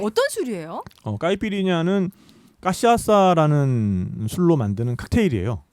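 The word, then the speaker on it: cachaça: 까이피리냐는 까시아사라는 술로 만드는 칵테일이에요. 까시아샤? 까시아사. 까시아사. 네, 제가 발음을 맞게 했나요? 네, 뭐 까시아사. 까시아사.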